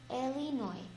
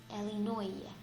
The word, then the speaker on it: Illinois: Illinois. Please read after me slowly. Later, I visited Chicago. It's not Chicago. Illinois. Illinois. S is silent.